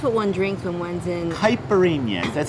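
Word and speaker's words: caipirinha: hyperemia because that's what one drink somewheres in hyperemia that's how you pronounce it books because you know we are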